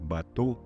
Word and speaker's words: bateau: przykład słyszysz słowo batu i ten dźwięk u przypiszesz do dźwięku o albo u, bo to jest taki dźwięk pomiędzy, to jest takie o zamknięte w języku francuskim, które brzmi trochę jak taka mieszanka o i u.